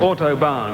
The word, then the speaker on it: Autobahn: And that's called Autobahn with a barn.